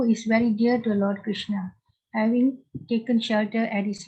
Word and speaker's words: Krishna: The words Hare, pronounced as Hare, Krishna, pronounced Krishna, and Rama, rhymes with drama, are Sanskrit words.